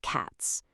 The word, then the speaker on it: cats: If a written word ends with a P, K, T, F, or th, the S makes a sharp S sound like cats.